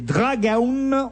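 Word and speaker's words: Dragão: vous serez avec les Dragon on prononce dragon ça s'écrit Dragao qui je l'espère vont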